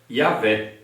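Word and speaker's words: Yahweh: Antigo Testamento vinham ensinando que a pronúncia antiga do nome é yavé e na forma portugues é yavé ou Jaé Então veja só que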